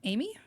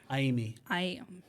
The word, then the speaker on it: Aimi: Amy? Aimi. Aimi. Aimi. Vowels are pronounced the same way. A-I-U-A-O, so Aimi.